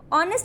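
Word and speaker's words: honest: ये जो ऑनेस्ट है ये साउंड कैसी दे रहा है, यहाँ पे तो एच साइलेंट है, साउंड किसकी आ रहा है, ऑनेस्ट की साउंड आ रही है।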